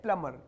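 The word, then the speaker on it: plumber: वाला होता है ना उनको बोलते हैं प्लमर इट्स नॉट be silent तो प्लमर इलेक्ट्रिशियन टेक्नीशियन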